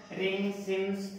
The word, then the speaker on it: Pringsheim: रिंग CIMS theorem, क्या नाम है रिंग सिम पी साइलेंट का, ठीक है।